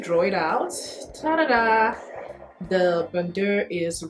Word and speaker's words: bandeau: So it's actually the Monogram Confidential Bandeau. Bandeau. Just the der is silent. Bandeau.